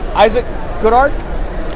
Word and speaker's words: Issac Goodhart: I'm here with Issac Goodhart. Did I pronounce that right?